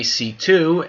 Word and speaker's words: C.C.: CC, aka C2, as she is pronounced, is going to once